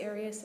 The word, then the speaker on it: Arias: when we're talking here your name has been pronounced so most of this trial arius is there another way of pronouncing it if you always pronounce it aries i've heard it pronounced about seven different ways um i say aries as does the rest of my family okay well let's back